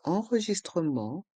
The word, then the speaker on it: enregistrement: Le T de enregistrement est muet. Enregistrement. L'enregistrement d'arrivée. Le E du mot arriver est muet. Arriver. L'enregistrement d'arrivée. L'enregistrement de départ. L'enregistrement de départ. Le T de enregistrement est muet.